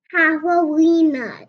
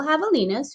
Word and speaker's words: javelina: you the Three Little Javelinas. Javelinas. Ooh, that's a tricky word, huh, Ron? Let's count it out. Javelina. Whoa, how many syllables? Javelina. How many? 3. 4. 4 syllables. Javelina.